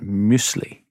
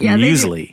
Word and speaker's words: muesli: And you pronounce it muesli. Yeah, that's right. I thought it was muesli.